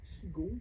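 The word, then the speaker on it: qigong: vous enseignez le le chigon c'est çaongong Q i g o N G ah I mais je vois comment ça s'écrit c'est juste pas le prononcer ça n'a rien à voir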